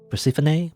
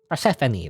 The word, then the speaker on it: Persephone: persephone persephone pacific google how do you pronounce persephone pronunciation is there a way to pronounce i'm gonna google pronunciation of this of this name persephone persephone persephone persephone persephone that's that's how you say that word persephone persephone all